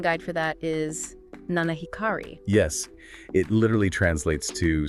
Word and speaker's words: 七光: And the pronunciation guide for that is Nanahikari.